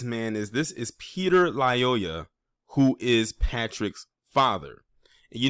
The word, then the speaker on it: Lyoya: video that i did i said la yo liola but it's lyoya y l-y-o-y-a and i did like